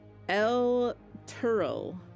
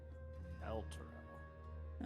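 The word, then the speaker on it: Elturel: El Turl. Nope, not even close. L-Turo. No, it's spelled like this. El Turel.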